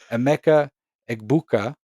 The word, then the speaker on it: Emeka Egbuka: We're referring to Rodgers' namesake over here, Emeka Egbuka out of Ohio State.